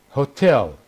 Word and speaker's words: hotel: The stress now is on the second. The stress is on the second syllable. Hotel, hotel, improve, improve, provide, provide, machine, machine, police, police.